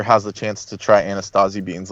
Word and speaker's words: Anasazi: the chance to try Anastasi beans, like they're actually better than pinto beans. They're very Yes. good. Yeah, but interestingly enough, it's spelled without the T sound. Anasazi is how it's spelled.